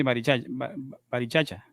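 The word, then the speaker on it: Barichara: ¿Se pronuncia así? Sí, Barichacha.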